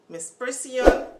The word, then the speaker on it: misprision: not take it to authorities i'm going to spell it for you m-i-s-b-r-i-s-i-o-n miss persian of felony i'm going to read the definition